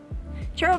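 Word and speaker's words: Chairald: Gerald is spelled like chair, C-H-A-I-R-A-L-D. Gerald, like Gerald. So it's not with an E or an O, like other people think it is.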